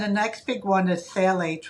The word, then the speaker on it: phthalates: next big one is phthalates, which actually starts with a pH, but you drop it, right? Oh, you drop it. I can never pronounce it. I'm always like... You're like, phthalates, just phthalates.